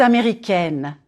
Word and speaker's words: américaine: If you are a woman, je suis américaine, américaine. Américaine. Flatten your tongue on the N and close it, N. Here, try this. Say egg, and then N.